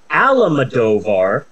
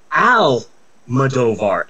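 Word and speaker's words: Almodóvar: Pedro almadovar there's no I keep wanting to pronounce Pedro Alam madovar but that's not his name it's Al movar and I have a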